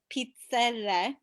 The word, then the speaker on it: pizzelle: So there's a question about why Pizzelle is not pronounced with all the syllables, but I'm sure that the Italian way would pronounce it Pizzelle. Correct. Like, It's all the become dialects chop off words.